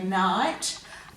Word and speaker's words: knight: So they would have originally have said knight, but now we just say night, and that one does have a silent K at the start of the word.